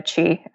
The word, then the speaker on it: Qi: It's @ Chi, which is spelled QI.